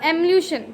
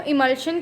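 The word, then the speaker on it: emulsion: मिला दोगे तो मिलेगा एम्ल्यूशन, ठीक है। इसको हम लोग कहते हैं इमल्शन, ठीक है, इमल्शन कहते हैं डियर स्टूडेंट, मैंने गलती से गलत प्रोनाउंस कर दिया था इसको, इमल्शन कहते हैं इसको।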